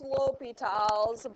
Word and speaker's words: L'Hôpital: Okay, so it's pronounced L'Hôpitals, but it's spelled L and then apostrophe hospitals.